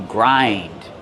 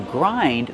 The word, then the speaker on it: grind: You grind. You grind the pepper with a peppermill. How do I pronounce grind? Grind. Use a long I like find and mind.